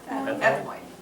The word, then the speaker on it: ethmoid: Not sphenoid, but it rhymes with it. Ethmoid.